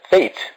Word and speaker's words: fete: So we can call it school celebration, which is also once again read as or pronounced as fete.